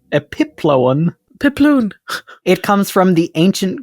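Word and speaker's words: epiploon: gek and that's spelled just so you know it's spelled e p i p l o o n like balloon epip pipon it comes from the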